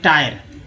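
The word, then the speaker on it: tire: लेकिन टीन पढ़ रहे हैं, लेकिन टी आई आर ई टायर, जब टायर पढ़ रहे हैं तो आई का उच्चारण आई हो रहा है।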